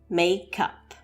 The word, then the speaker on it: make up: So to join these two words and sounds together, we have the first syllable may from the first part of make and the syllable cup from the end of the word make and the word up. Like a cup of coffee or a cup of tea. May cup.